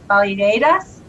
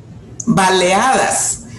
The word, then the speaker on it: baleadas: Baleadas? Baleadas.